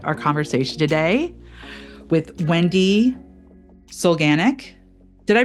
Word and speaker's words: Solganik: But I am really excited about our conversation today with Wendy Solganik. Did I pronounce that right, Wendy?